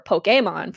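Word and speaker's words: Pokémon: It's a little bit underground called Pokemon, or Pokemon for people who like to pronounce things correctly.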